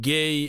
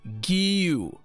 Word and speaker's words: Guiu: So it's not Marc Gay anymore. It's not Guiu. It's not whatever we were pronouncing for ever since we've been linked with him. Many people don't know how to pronounce his name, including me. Now he's telling you exactly how to pronounce it. It's Guiu. Guiu.